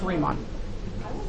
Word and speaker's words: Riemann: It's pronounced Riemann. Riemann. The E says E. Riemann Sums. Okay? So now you know. Riemann. Just like Huebner.